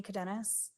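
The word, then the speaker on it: Cadenas: My name is Cadennus. All right. Can you spell that last name?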